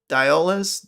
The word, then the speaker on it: Dioles: Now, man, it's pronounced Dioles. Dioles? Really? No shit. I was thinking of the bar of soap.